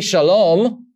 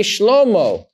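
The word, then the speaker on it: שלמה: hey, it tells me, make sure you pronounce the vowel O at the end. Don't say Shalom, which means completely something else, means peace. Say Shlomo. Say the O at the end because I'm talking about Solomon.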